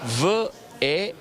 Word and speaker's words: Venetkens: Il nome Veneti in venetico si legge qui: V-E-N-E-T-K-E-N-S, Venetkens, quindi probabilmente Venet, l'etnonimo vero e proprio, gens o Venetikens, quindi un'aggettivazione di Veneti.